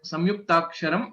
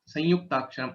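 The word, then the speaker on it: संयुक्ताक्षरम्: Both are the correct as well. So this is a specific pronunciation of yakara. Whenever there is an anuswara and followed by ya or va, or okay, for this, then you will have the anunasika yakara pronunciation which comes into place.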